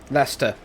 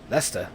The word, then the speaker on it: Leicester: like how dare you like i'm sorry dyslexia lester why leicester why the fact that it's pronounced lester and then you look at the spelling that's